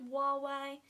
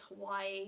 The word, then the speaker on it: Huawei: I think it's pronounced Huawei. It's H-U-A-W-E-I. The guy in the store was pronouncing it as Hawaii, so I was really confused.